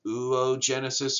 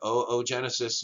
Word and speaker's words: oogenesis: is referred to as oogenesis or oogenesis yes you pronounce each one of those o's uh individually from one another all right making uh